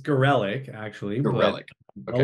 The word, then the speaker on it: Garellek: It's Garellek, actually, but Garellek. a Okay. lot of people say Garallek, like they Yep. can't. It's fine, whatever. At this No, point, Garellek.